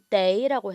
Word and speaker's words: 得: 떠라고 하지 마시고 day라고 해줄게요.